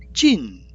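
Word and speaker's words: 盡: 다할진은 찐 이렇게 발음되네요.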